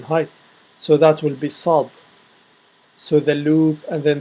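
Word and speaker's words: ص: Now after that we have sad. I don't think there is an equivalent English for sad, and it's pronounced as sah. It's like a thick S with sah.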